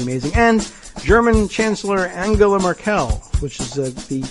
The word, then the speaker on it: Merkel: to be pretty amazing and German Chancellor Angela marel which is the pronunciation that Greg put on is is Mel we always said Merkel but maybe marel sounds I don't know sounds